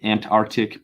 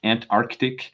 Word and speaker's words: Antarctic: so we i think we do the lazy american arctic antarctic but there is an extra c in there there is an arctic antarctic we probably should be